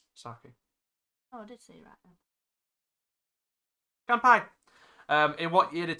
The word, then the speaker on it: sake: grain is a japanese spirit saki made it's rice i don't think i said it right again sake um in what year